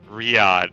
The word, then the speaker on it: Riyadh: How do you Riyadh? Is it Riyadh?